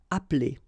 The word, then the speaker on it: appeler: Okay, same thing here, appeler, but then you get appeler, appeler, and then samedi.